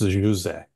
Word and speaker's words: José: Only because I was born in Portugal, and it's José, but... Oh, it's José. Oh, I grew up in America, so for me it's José, but José, I will be changing my pronunciation.